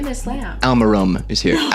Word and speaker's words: Almedom: Almedom is here. That's Alparum.